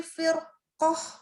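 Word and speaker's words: فِرْقَةٍ: Jadi fir bukan fir. Ya. Ini sering nih kita bacanya pasti jadi tipis fir karena memang tipis kan depannya kasroh. Cuman jangan lupa kalau belakangnya itu ada huruf isti'la jadi tebel dia.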